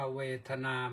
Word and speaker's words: เวทนา: ปัจจัย จึง มี เวทนา อ่าน ว่า เวทนา ไม่ ใช่ เวทนานะ ถ้า เวทนา นั่น ก็ คือ สมเพช เวทนา น่า สลด อด หู่ หัว ใจ นะ สมเพช เวทนา แต่ เวทนา ตัว นี้ แปล ว่า ความ รู้ สึก ความ รู้ สึก